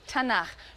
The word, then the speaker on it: Tanakh: Tanakh, which is really the letters T, N, and Ch. And they put little A's in there to make it easy to pronounce, because it's hard to pronounce.